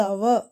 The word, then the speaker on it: hour: ஸோ அந்த ஹவர் கிடையாது, அது அவர்.